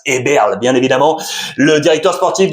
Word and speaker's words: Eberle: Et pour la prononciation, je vous avais dit Herbel l'autre jour. Max Eberle, bien évidemment le directeur sportif du Bayern Munich.